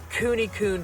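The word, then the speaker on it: Kune: So we got 3 Coon pigs. That's spelled K-U-N-E, K-U-N-E.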